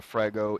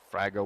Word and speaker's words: Frago: One of the places where you would receive a Frago in real life, Frago or Frago, I've heard it pronounced both ways, is if you were, say, ordered to quickly respond or quickly help out another unit.